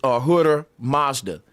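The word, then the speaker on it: Ahura Mazda: here his name is Aura Mazda the H is silent so the word is really Aura you see it you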